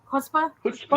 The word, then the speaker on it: chutzpah: So, did I get the pronunciation more or less? Was it close? Chutzpah?